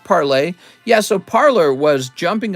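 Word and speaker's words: Parler: the train parlor yes parlor thank you it's pronounced parlay yeah so parlor was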